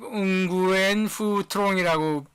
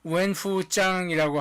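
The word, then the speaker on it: Nguyễn Phú Trọng: 국가 주석이면서 공산당의 총서기를 하는 웬푸짱, 이게 써 있는 대로 읽으면 응구엔푸트롱이라고 읽기 쉬운데 베트남 말로 발음을 하면 웬푸짱이라고 하는 게 맞다고 합니다.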